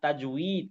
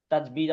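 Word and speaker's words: تجويد: এমন আমি কালকে দুইটা দেখাইলাম না, তাজউইদ, কিন্তু আমরা বলি কি তাজবিদ।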